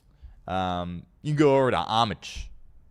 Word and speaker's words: Homage: can go over to Homage. I've been saying homage all week, but I guess the H is silent, so apologies there on that front.